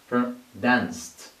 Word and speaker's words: danced: No vibration, so it should be pronounced T. Danced, danced.